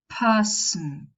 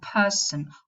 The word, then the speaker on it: person: We say cotton, button, sudden, person, prison. Some people make the nasal syllabic, and some people pronounce a vowel before the nasal. They don't make it syllabic. So you'll probably hear prison with a schwa, or person with a schwa, or cotton, or button.